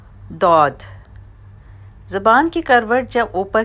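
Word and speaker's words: ضاد: دود ادا ہوتا ہے۔ The letter دود is pronounced by touching the side of the tongue with the upper 5 molars۔ دود تمام حروف میں کچھ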